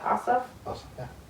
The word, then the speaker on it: Ossoff: Ossoff? John Ossoff. Yeah. Ossoff.